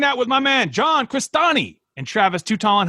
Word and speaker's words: Crestani: Last name is Crestani, Crestani. It's Italian. Yeah, it's hard to spell and pronounce.